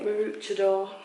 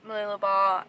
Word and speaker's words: Mooloolaba: Mooloolaba.